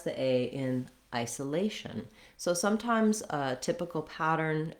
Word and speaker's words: isolation: It's just that in isolation, the main stress is on the A. In isolate, the main stress is on the I.